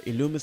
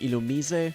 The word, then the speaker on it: Illumise: sorry yep so it's just an alumnus or illumise say depending on how you want to pronounce it today I don't know I've always said illumise it's supposed to be Illume easy if you want to follow the anime but I don't follow